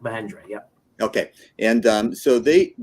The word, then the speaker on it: Mahindra: Is that the correct pronunciation? That's the correct Mahindra.